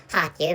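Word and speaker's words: Харків: But actually, so using Ukrainian language, this is Kharkiv maybe.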